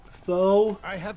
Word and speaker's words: pho: pho, or however you want to pronounce it. should have brought your allies with you. I just know some folks call it foe, so you know I want to make sure that they knew what I was talking about. But that's the way I've been told it's pronounced.